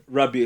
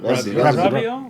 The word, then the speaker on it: Rabiot: Rabiot. Rabiot. Rabiot. Yeah. Rabiot. He's a- No. Rabiot or whatever. You don't say the T. Rabiot.